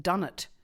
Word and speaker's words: dunnart: The animal with the shortest pregnancy is the stripe-faced dunnet, which is spelt Dunnart.